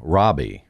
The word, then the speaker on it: Rabih: that if they just look up my name Robbie on YouTube they will find it and would tell them Robbie is spelled r a b i h right correct